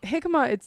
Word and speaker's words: jicama: So jicama, it's like a root. Jicama.